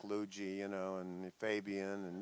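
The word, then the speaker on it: Lugee: name or cuz they used to call me Liu ji you know and my friends close friends still do well and it's spelled lu g ee was like short for luigi so they say Liu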